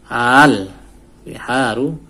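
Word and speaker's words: البحار: Berarti kan sini al, cara membacanya al, tidak aal ya, karena ini hamzah wasol. Hamzah wasol tidak, ketika ada huruf di depannya tidak dibaca, masuk ke huruf sebelumnya.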